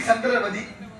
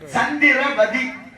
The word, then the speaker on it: சந்திரபதி: பாருங்க இங்க அரிச்சந்திரனுடைய மனைவி சந்திரமதி அரிச்சந்திரனுடைய மனைவி சந்திரபதி ஏன் சந்திரமதின்னு நான் சொல்லல சந்திரமதிங்கறது உச்சரிப்பு தப்பு சந்திரனால் நிலவு மதினால் நிலவு நிலவு நிலவுன்னு ஒரு பேர் இருக்காது சந்திரபதி உதாரணம் பாருங்க பார்வதி பாக்கியவதி குணபதி புனிதவதி அம்மா பேரு சந்திரபதி அது உதாரணம் இப்ப அந்த